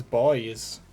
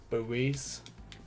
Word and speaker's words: buoy: Look at these boys. I don't know why Americans say it as buoys. It's not buoy, it's boy. The U is silent.